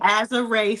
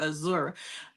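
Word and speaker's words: Azurá: Her name right is Azure Stevens. Broke off and having me call her Azura.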